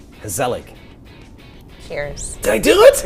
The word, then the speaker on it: gezellig: It's Gezellig.